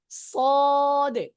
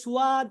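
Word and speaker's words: ص: উচ্চারণ করার সময় কিন্তু যে সুয়াদ সুয়াদ এরকম বলা যাবে না, যাবে যাবে না, না, ঠোঁট ভুল হবে না। স স সদে সদে।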